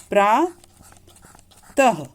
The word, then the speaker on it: प्रातः: बाद लिखते हैं, और इसका जो उच्चारण होता है वो कंठ से होता है, गले से होता है। जैसे अतः, प्रातः, इसे बोलते समय ह की आवाज आती है, जैसे प्रातः।